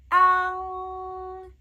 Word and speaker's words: ang: It's pronounced as ang, ang, ang. What is happening here? It's a very wide, right, and a nasal sound. Ang, ang, ang. Check out my previous videos on how to pronounce nasal sounds. Ang, ang. Just open your mouth as wide as possible and pronounce it.